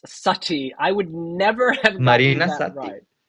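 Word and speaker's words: Satti: The Greek lettering is pronounced Sati.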